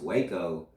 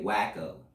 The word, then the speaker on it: Waco: right you know because most people they don't know how to pronounce Waco they say whacko so with that being